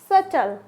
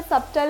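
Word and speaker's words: subtle: हो जाएगा टाउट क्या हो जाएगा टाउट नेक्स्ट सटल क्या बोलते हैं सटल यहां पे सबटल नहीं बोलेंगे क्या बोलेंगे इसे सटल क्या हो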